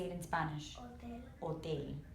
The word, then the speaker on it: hotel: Hotel. Hotel. So the H is silent. You don't hear the H, but you hear it in the English language, correct?